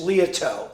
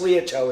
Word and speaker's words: Liautaud: it's French Creole. It's Liautaud. Liautaud. It's pronounced Liautaud.